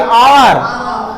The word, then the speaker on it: hour: जैसे ही is waiting for dash HOUR, तो यहां इसको क्या बोलोगे, HOUR, H साइलेंट है ये, आवर, ठीक है, तो यहां हमारा आर्टिकल क्या होगा, एन होगा।